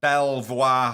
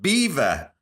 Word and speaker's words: Belvoir: it was by the Belvoir Hunt. Now, apparently, it is pronounced beaver.